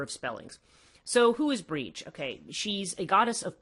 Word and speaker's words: Brigid: There's a whole variety of spellings, which is why, and nobody looks at Brigid and thinks that you pronounce that Brige.